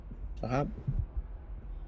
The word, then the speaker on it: Shahab: that's how pronounced right is that how you pronounce your first name shahab hopefully I'm pronouncing it right um yep you got it oh perfect love the